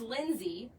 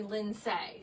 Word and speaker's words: Lindsay: And that's coming from a girl whose name is Lindsay, spelled with an A, and everyone calls me Linday.